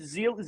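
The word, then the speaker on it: Zeile: I thought when I got Todd Zeal or whatever, but how do you pronounce his name? Zeal.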